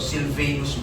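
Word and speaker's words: Silvanus: ko yung Aba Sylvanus yung A niya long A so Sylvanus pala ganda ng pangalan what's your name I'm Sylvanus and Timoth Timotheus unto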